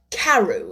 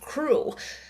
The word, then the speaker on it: Crew: Madame Pascal pronounced it as if it were Carew instead of Crew, but that might be merely a matter of pronunciation.